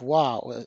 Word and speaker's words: は: but the spelling of wa as the subject particle remained. As you may remember, we always write the subject particle as ha, but pronounce it as wa.